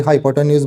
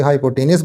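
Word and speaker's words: hypotenuse: इसमें आपको क्या बोला बच्चे, इसमें आपको ये find the length of द हाइपोटेनस ऑफ, कोई हाइपोटेन्यूज बोलता है, कोई हाइपोटेनस बोलता है, जैसे जैसे आपकी प्रोनाउंसिएशन आप यूज़ कर सकते हो।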